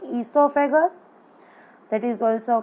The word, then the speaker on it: esophagus: The mouth and there shows the salivary yellow colored gland here, then the esophagus, not oesophagus, O is silent, so you have to speak esophagus, that is also called